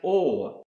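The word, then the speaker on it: עור: The next word I want to show you that starts with the letter I and is pronounced or.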